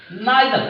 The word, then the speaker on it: neither: और, नॉर, आइदर और, नाइदर नॉर। ध्यान देना यार, और, नॉर, आइदर और, नाइदर नॉर। कुछ लोग इधर और भी बोलते हैं, नीदर नॉर भी बोलते हैं, प्रोनाउंसिएशन पर अपना अपना कमांड है।